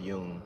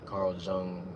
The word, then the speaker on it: Jung: into Carl Yung or it's spelled J U N G, but I've heard it's pronounced Yung, Carl Jung, or however you want to say it.